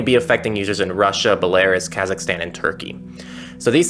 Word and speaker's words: Belarus: By the way, it's pronounced Belarus.